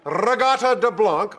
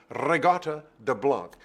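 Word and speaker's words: Reggatta de Blanc: deamore which is incorrect the next album rata de Blanc also frequently mispronounced regot de Blanc see if you can get the rolled R in there because it makes it sound like Italian or operatic or something great album Zenyatta mondada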